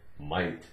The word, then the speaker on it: might: some eggs and milk GH is silent in the word might this is the end